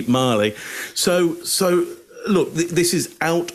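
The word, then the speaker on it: Magli: Either that he thinks it's pronounced Magley, which you're right, Scott. People would have said, you're getting it wrong, mate. You got to look cool. It's actually Marley.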